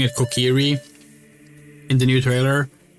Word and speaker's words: Kokiri: Oh, by the way, we're so annoyed that this that they're actually pronouncing it Kokiri in the new trailer.